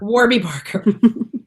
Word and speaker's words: Warby Parker: Warby Parker. Warby Parker. You say it like Warby Arby's. Parker. Warby. Because it's Arby's in a W.